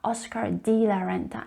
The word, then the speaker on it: Oscar de la Renta: Now, the English native speakers might encounter it difficult to pronounce the letter E as a wide E sound. They tend to say Oscar de la Renta, Oscar de la Renta, instead of Oscar de la Renta.